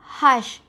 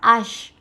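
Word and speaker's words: hache: be set hash so remember how I pronounce hash it is hash not ash it's hash set hash the last one you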